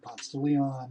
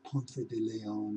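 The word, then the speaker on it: Ponce de Leon: Leon by the way Pon Leon is how you say that if you're a native Atlant the rest of the world says really goofy things like P Deon and stuff like that so you know that's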